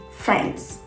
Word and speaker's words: friends: it should be said friends friends just friends with no i so remember don't say